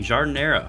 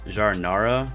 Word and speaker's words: giardiniera: today's episode we're making jar dinero jar Inara whichever way you want to pronounce it I'm gonna go with jar dinero a delicious mix of